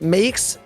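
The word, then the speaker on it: Meeix: and of course at Makes, M-E-E-I-X, pronounced Makes, as she puts it on Twitter, and of course Mr.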